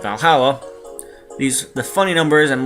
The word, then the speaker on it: VA-11 Hall-A: bit hard to pronounce good thing it's actually called Valhalla these the funny numbers